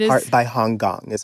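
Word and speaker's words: Han Kang: So that's We do not part by Hong Gong is how you say her name.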